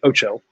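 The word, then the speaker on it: OHCO: one that model was called OHC Oh which nobody can pronounce so they say Oh Cho and we call it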